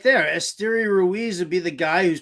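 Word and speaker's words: Esteury Ruiz: you go you just said it right there esteria Ruiz would be the guy who's probably faster than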